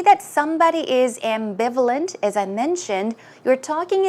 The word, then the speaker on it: ambivalent: there was the word ambivalent ambivalent notice that the stress goes right here on the second syllable and some synonyms are doubtful uncertain hesitant or unsure now if you say that somebody is ambivalent as I mentioned you're